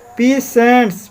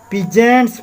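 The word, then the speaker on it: peasants: पीसेंट्स, पीजेंट्स, इसको क्या पढ़ेंगे, पीजेंट्स पढ़ेंगे, पीसेंट्स नहीं पढ़ेंगे, पीजेंट्स पढ़ेंगे। कोई कोई पीसेंट्स भी पढ़ता है, लेकिन पीजेंट्स अच्छा उच्चारण होगा इसका, ठीक है।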